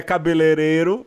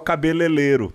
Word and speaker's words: cabeleireiro: no pé da pronúncia tipo cabeleireiro cabeleireiro que é cabeleireiro mas eu acho que é muito mais legal cabeleleiro é sobrancelha que eu